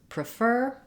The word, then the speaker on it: prefer: the vowel sounds specifically in prefer we stress on the fur syllable and in preference we